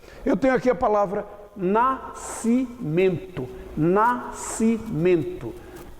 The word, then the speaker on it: nascimento: Eu tenho aqui a palavra nascimento. Nascimento. Não é nascimento. Isso aqui, ó, SC é um dígrafo. Significa dizer que essas duas letras são pronunciadas de uma só vez. Portanto, nascimento.